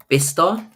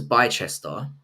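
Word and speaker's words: Bicester: No, it's called um it's called it's pronounced bister. I thought it was Bester, but it's Bister, I think it's Yeah, it's And that's in the UK.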